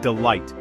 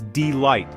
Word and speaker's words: delight: The pronunciation is delight. Again, the stress is on the second syllable.